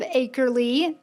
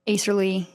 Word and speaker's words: Acrely: We are the founders of Acrely.